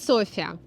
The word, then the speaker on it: София: Вот, и правильно говорить София.